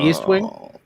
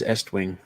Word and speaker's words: Estwing: an a in it is it still east wing nope that is estwing was i was i